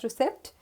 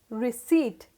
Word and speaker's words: receipt: p t hindi but that's wrong it's not pronounced as recept it is pronounced as receipt see i have also mentioned the phonetical pronunciation